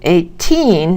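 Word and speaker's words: eighteen: 80 has the stress first, and 18 has the stress on the second syllable.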